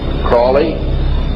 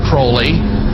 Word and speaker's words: Crowley: learned about was Aleister Crowley. He likes to have his name pronounced Crowley to rhyme with holy.